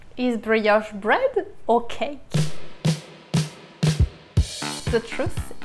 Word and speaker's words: brioche: If you're wondering how you say brioche, it's pronounced brioche, it's a French word.